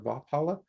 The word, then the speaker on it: Vapula: Vupala is usually how I pronounce it. Vala or Vapala. Um, v a p u l a.